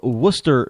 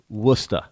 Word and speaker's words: Worcester: keynote address tomorrow evening in the city of Worcester, Massachusetts. Now, if you're looking on the map and you're not from New England, then you'll never find Worcester.